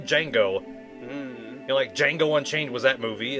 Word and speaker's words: Django: I think anytime I've seen that, you don't actually pronounce the D, which I'm like, why the fuck is it there then? Like the name Django.